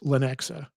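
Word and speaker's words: Lenexa: It's pronounced Lanexa. So, if you type in Lanexa, Lanexa, Kansas.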